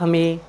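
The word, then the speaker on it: hymn: की क्लास अच्छी लग रही हो तो आप हमें लाइक शेयर और कमेंट करना ना भूले और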